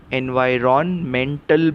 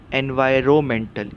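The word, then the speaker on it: environmental: भी कर सकते हैं सही उच्चार क्या है एनवायरमेंटल इसमें जो एन है आर ओ एन में एन वो साइलेंट है वह शांत शब्द है उसका स्पेलिंग में उपयोग होता है लेकिन पढ़ने के टाइम उस अक्षर की हम आवाज नहीं लेते तो सही उच्चार क्या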